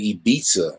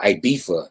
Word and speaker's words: Ibiza: What's this island, Ibiza, right? Or Ibiza, depending on your pronunciation.